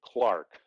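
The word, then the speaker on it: Clerk: and british pronounce it clark like for american pronunciation pretends to e pretend the e is an a it's the clark maxwell foundation of which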